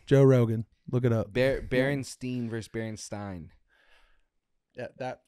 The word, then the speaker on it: Berenstain: Well, we all thought it was Bernstein, but it's Berenstein. No, I said Bernstein. It's the last letter. It's spelled with an A instead of an E. No. Yes, I promise you. It's stain instead of steen.